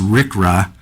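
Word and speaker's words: RCRA: So, um, the request for ECDC is operating the Southern California Trans Rail for loading sealed bins containing RCA and it's commonly pronounced RickRA.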